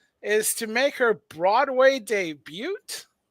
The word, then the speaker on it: debut: uh Brown Jackson is to make her Broadway debut it's pronounced debut it's you with the French you with the French anything with French you know it's I'm not debut yeah which just means she's making her first